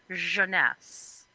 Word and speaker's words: Jeunesse: everybody says but no it rhymes with finesse it's jeunesse it is a skincare